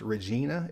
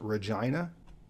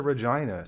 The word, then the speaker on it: Regina: it will be pronounced Regina it's actually pronounced Regina so come to Regina to cure your angina that sounds about right